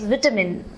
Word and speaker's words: vitamin: school my teachers always told me to say vitamin i pronounced it as vitamin but when i came